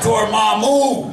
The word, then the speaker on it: Dormammu: Oh, and Dormammu! Yeah. I get scared just saying the name. And now you know how it's pronounced.